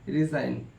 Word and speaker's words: resign: जी silent, जी कब silent होता है, एन से पहले जी आता है तो जी को पढ़ा नहीं जाता है। जैसे लिखा है डिज़ाइन, डिज़ाइन DESIGN डिज़ाइन, RESIGN रिज़ाइन, साइन SIGN साइन। तो इसमें शर्त क्या था, एन से पहले जी आता है तो जी को पढ़ा नहीं जाता है, याद कर लीजिएगा।